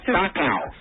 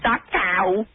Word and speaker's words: Dachau: Dachau. It's not Dachau. It's Dachau. It must have been weird